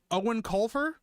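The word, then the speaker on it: Eoin Colfer: Let me see how you pronounce this guy's name. Owen Colfer?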